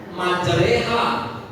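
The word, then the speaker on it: مَجْرٰىهَا: di situ imalah bacaan yang ditulis bacanya majroha yang dibaca majreha kan atau ada itu imalah itu I Kan dibilang ada dituliskan situ imalah imalah itu artinya adalah mengubah vokalnya dari a menjadi e satu-satunya di Quran itu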